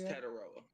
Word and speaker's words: Tetairoa: How do you pronounce his name? Is it Tetairoa? Teteria? It's Tetaroa.